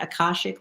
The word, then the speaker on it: Akashic: Am I pronouncing that right? Akashic Records? Yes, you are.